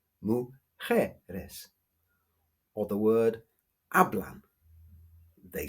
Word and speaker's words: mujeres: Yes, the stress is on the je, mujeres.